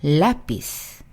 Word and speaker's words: lápiz: 자, 이 라피스에는요, lápiz. 아센토가 찍힙니다. 원래는 지금 세타, 즉 Z로 끝나서 맨 뒤에서 첫 번째의 모음은 I겠죠. 그쵸? 자, 그래서 원래는 읽을 때 아센토를 찍지 않았더라면 lápiz 이렇게 되겠죠? 그런데 어때요? 아센토를 찍었어요. 이거는 예외적으로 아센토를 찍어서 뒤에서 두 번째로 올릴게요 라는 표현으로 lápiz 그리고 아에 아센토가 찍힌 거 보이시죠?